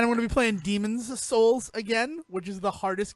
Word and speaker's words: Demon's Souls: You got to put the emphasis in a different place on demon. That's what you got to do. Demon's Souls.